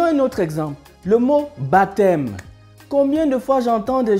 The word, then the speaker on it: baptême: dire que en prononçant le P ne se prononce pas du coup ça se dit baptême et non baptême j'entends déjà le baptême